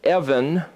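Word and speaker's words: אבן: is the word evan a b n read or pronounced as evan the B and the V is the same letter so Evan it's all the same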